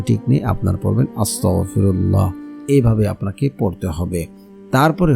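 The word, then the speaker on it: أستغفر الله: কারণ এখানে উচ্চারণ ঠিক নেই। আপনারা পড়বেন আস্তাগফিরুল্লাহ।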